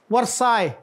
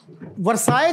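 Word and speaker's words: Versailles: it true that the treaty of वसल वरसाई वर्साय वास signed on June 28 1919 वरसाई जो है वरसाई city नि नियर पेरिस य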